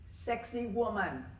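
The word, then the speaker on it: Sacsayhuamán: of ruins near Cusco that is pronounced sexy woman but this is how you spell it some of these precisely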